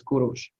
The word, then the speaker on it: Kurush: You know, in Russia he's pronounced as Kir, and then in Persian he was pronounced as Kurush.